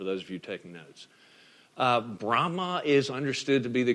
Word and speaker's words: Brahma: main gods of Hinduism would be Brahma not Brahm on right but Brahma you just dropped the in off the end B ra h EA